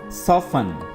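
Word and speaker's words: soften: word होगा डम learn सफन सफन यहां पर भी टी साइलेंट है आपने इस वर्ड को पढ़ना है सफन नर्म करना हेसन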